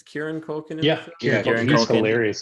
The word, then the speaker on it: Kieran Culkin: It's Kieran Culkin.